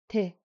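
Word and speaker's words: དེ: But if I add a jingbo, it's te.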